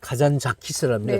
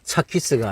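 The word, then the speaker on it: Καζαντζάκης: 정확한 발음이 카잔자키스랍니다. 네. 차키스가 아니고. 카잔자키스. 예, 카잔자키스인데, 네.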